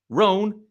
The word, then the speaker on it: Rhone: Roan is spelled RHONE.